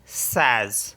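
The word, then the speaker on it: seize: है queen and एस ई आई जड ई सज सज मीस होता है 16 अब देख लेते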